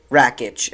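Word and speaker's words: Rakić: back in April as well versus Alexander rakic rakic if is that's how you pronounce his name and then you see uh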